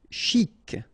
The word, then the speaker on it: chic: Chic. Okay, you pronounce the final C and then CH together. Sh.